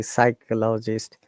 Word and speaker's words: psychologist: So in the PS clusters, P is silent and there are many words.